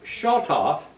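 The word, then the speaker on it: שָׁטַף: It's from a root word, and it's pronounced Shotof, and it means to rain violently, overflowing, to gush down, overflow, and wash away.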